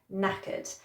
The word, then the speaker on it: knackered: Okay, number 4 I use all the time, and it's knackered. Okay, that K is silent at the beginning, knackered.